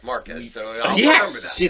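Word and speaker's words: Márquez: Thank you for properly pronouncing Marquez, like so few gringos ever do.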